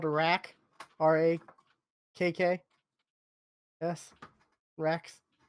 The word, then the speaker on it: Rakks: one of the creatures is called a rack, RAKKS, Racks. It's an innuendo for boobs. Yeah, I mean, no, it's spelled Rax and then Rax as in the creature.